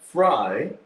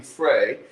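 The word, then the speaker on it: Frey: and i'm with lance frye yep f-r-e-y but it's pronounced fry i was thinking fray and they have an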